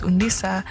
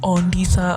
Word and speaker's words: Undisa: So they were actually mispronounced, or someone will call you Ondisa. Oh my god, I hated that. Or someone would call you Kole, just a way that it isn't supposed to be said, like Coletta, or like,